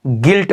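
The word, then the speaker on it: guilt: हमारा बिल्कुल साइलेंट हो जाता है तो इसको उच्चारण नहीं करते हैं तो यह क्या पढ़ते हैं गिल्ट पढ़ते हैं क्या पढ़ते हैं तो गिल्ट पढ़ते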